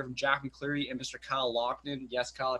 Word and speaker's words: Loughnane: Kyle Loughnane. Yes, Kyle, I pronounced it right for once.